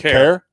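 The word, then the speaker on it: Kaire: So go ahead and how do you pronounce it? Is it Care? Care.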